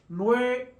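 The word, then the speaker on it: nueve: a two syllable word nobe remember the V and the B are pronounced the same no and then we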